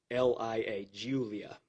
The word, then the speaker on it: Giulia: a 2016 or newer alfa romeo giuliana and that's spelled g-i-u-l-i-a julia sorry g-i-u-l-i-a alfa romeo julia silver in color the vehicle appears to have